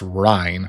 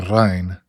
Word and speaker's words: Rijn: I found out after that it's pronounced Rijn or Rijn. Apparently it's Old Dutch.